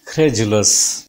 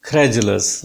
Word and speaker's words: credulous: The 16th word is credulous. The word is credulous, not credulous. This is not da sound. It seems that it is da sound, but this is ja sound.